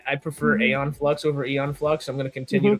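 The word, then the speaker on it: Aeon Flux: That's just makes me think of different Have I been mispronouncing films my entire life? No, it's Eon Flux.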